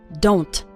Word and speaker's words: don't: most of us and at the end of the word don't we don't really pronounce the T wrongly so don't say don't okay it's more of